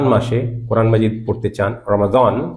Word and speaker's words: রমজান: এরকমই ছিল আপনারা যারা রমাজান মাসে কোরআন মাজিদ পড়তে চান রমাজান আরবি উচ্চারণ রমজান বাংলায় বলতে অসুবিধা নেই আজকে উচ্চারণের শুদ্ধতার ক্লাস